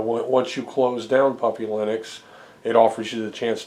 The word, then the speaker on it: Linux: And uh once you close down Puppy Linux, it offers you the chance to create a save file and everything's stored in that save file.